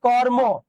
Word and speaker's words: কর্ম: অন্ত অ থাকলে সেই অটার উচ্চারণ ও এর মত হবে। যুক্ত বর্ণ। দেখ কর্ম একে ভাঙলে আমরা কি পাবো? র হসন্ত প্লাস ম। তাহলে ম এখানেটা অ হচ্ছে না। এ অটা কি হয়ে যাবে? ও হয়ে যাবে।